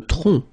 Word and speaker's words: tronc: Le tronc. Le tronc. Okay, remember, final C is not pronounced here.